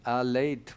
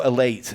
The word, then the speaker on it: Elate: 2 Germans, 2 British girls, and together in Alate. Well, how do you say that? Alate? Alate? No, elate. Elate is what they've called it.